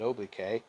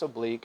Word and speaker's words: oblique: student in high school i pronounced it obk but it's not it's oblique it just means that this